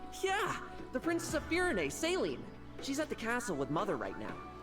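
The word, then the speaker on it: Céline: Hello, Celine. It's Saline! You said it wrong!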